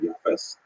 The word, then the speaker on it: Japheth: And I should pronounce that, by the way, in the Ashkenazi pronunciation, Japheth.